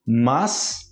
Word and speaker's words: mas: 333 paz paz paz mas mais e mais batalha aqui nesse eu e mais existe um mar de peru em português e existe mais de soma Eu particularmente eu falo a pronúncia igual mas a falar mais